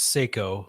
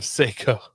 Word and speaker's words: Seiko: I think it's Seiko, like the Seiko? watch.